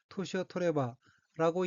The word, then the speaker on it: 年を取れば: 셋째 줄 가운데 엮인 한자가 해년, 가질취 자가 들어있고 일본어로는 토시오토레바라고 읽으며 토시오토레바는 나이를 먹다는 뜻인 토시오토루의 루가 가정형 바 앞에서 에다닌 뇌로 바뀌어 토레바가 되어 토시오토레바는 나이가 들면 이란 의미입니다.